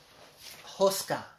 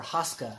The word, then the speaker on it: Hoska: And then I have the Bohempia Hoska, or Hoska, however you want to pronounce it, H-O-S-K-A.